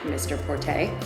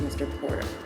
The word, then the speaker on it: Mr Porter: everyone started calling it Mr Porte and we had to explain no no no it's not a pte it's Mr Porter and our magazine is